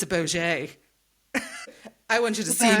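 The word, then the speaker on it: Bogge: The pronunciation is the same as bogies. Bogey. A bogey. I'm sorry. But something that wants to look at you that hard is not a bogey. It's a Boget.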